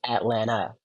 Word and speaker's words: Atlanta: exist it is pronounced Atlanta no one pronounces the second T in Atlanta I put it out